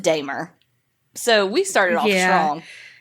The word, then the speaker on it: Dahmer: was uh dahmer and his name is pronounced damer so we started off